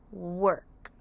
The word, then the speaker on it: work: has three sound when o r is next to a w it makes the sound R for the word work for example it takes